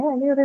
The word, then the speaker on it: allure: Second syllable because you have a schwa sound, right? You have a schwa sound, hence we're going to mark it on the second syllable.